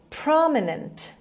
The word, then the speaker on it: prominent: past word number eight prominent prominent prominent the stress is on the first syllable means well known or